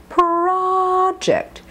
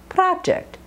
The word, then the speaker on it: project: v v Vol continuing project notice it's not project or even project but project ah this a sound